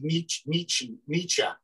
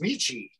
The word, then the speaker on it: Nietzsche: Like my whole childhood, it was Nietzsche. And then all of a sudden I get to college. It's like, no, it's Nietzsche. It's like, the word niche these days, or niche, or however you want to pronounce it. You could have told me that when I was growing up. Why you just decided? He's actually Friedrich Nietzsche. Nietzsche. Just Nietzsche.